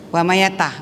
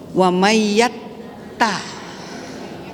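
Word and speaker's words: وَمَن يَتَّقِ: Tadi ada yang membacanya tanya tidak ditasdik. Wa mayata, enggak bisa. Wa mayyatta.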